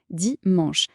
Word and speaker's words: dimanche: La prononciation est dimanche. C'est un mot unique dans la semaine. C'est le seul qui ne se termine pas par le son dit.